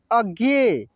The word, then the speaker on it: अज्ञेय: देखिए इसमें ग का भी उच्चारण हो रहा है ना, अज्ञेय, और य का भी उच्चारण हो रहा है।